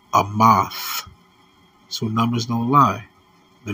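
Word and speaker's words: אמת: word truth in the Hebrew is pronounced is pronounced a moth so numbers don't lie the New Orleans prophecy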